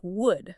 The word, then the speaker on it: would: The word is would. Let us spell it together. W O U L D. Would. Would. Wow, that is a hard word to say. The letter L is quiet, right?